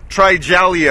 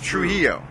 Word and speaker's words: Trujillo: the Met Club exclusive the real pronunciation of his last name - he'll hold on you can do it allele yeah you got Trujillo you get it roll those ours pero he oh who